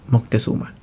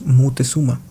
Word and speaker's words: Moctezuma: El primero, Moctezuma, que es como en la actualidad más se le conoce y probablemente como tú lo llames. El segundo es Mutezuma.